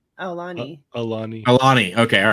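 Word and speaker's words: Aulani: He's at Aluwani, right?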